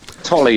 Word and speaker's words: Tolley: Am I pronouncing your name correctly, first of all? Tolley. Tolley, yes.